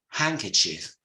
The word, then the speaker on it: handkerchief: simple word here it's handkerchief handkerchief just to mention that there's a silent D we will have another